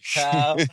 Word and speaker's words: TAO: TAO. Did I pronounce that right?